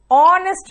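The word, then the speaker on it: honest: यहां पे वा आ रहा है प्रोनाउंसिएशन 1 रुपी कॉइन का, इसीलिए यहां पर भी नहीं आएगा। Okay, ऑनेस्ट मैन, ऑनेस्ट, ऑनेस्ट ओ।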